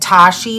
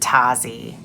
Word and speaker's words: Tashi: It's Tashi. I think I said Tazzy.